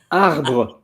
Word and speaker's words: arbre: will let you pronounce it before me. Uh, arbra. Arbre.